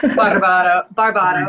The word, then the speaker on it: Barbato: you can pronounce that correctly for me if you can. Barbato.